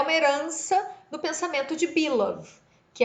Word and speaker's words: Bülow: Essa teoria foi pensada por um sujeito chamado Bilov, que se escreve B-U-L-O-W, Bilov.